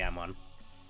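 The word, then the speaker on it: Amon: elegant i went oh there's got to be ammon or i said amen because i pronounced it wrong but yeah you can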